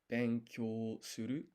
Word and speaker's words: benkyou suru: So this is a yun combination that's gonna be pronounced as kyo. Then I need the additional u. Su. Ru. Benkyou suru.